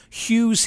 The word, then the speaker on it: Huw: play on his name Hughes he Hughes he Hughes he I don't know who he is because his his first name is spelled H UW his name is Hugh Edwards that's that's Hugh he